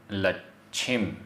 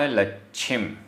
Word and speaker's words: लच्छिम: जो, जो, वड्ढमाण, आधा ड ढ, वड्ढमाण लच्छिम, आधा च छ, वड्ढमाण लच्छिम, वड्ढमाण लच्छिम।